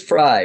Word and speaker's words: Fry: America we welcome back fry am I pronouncing your name right it is fry but every I answered a Fray oh right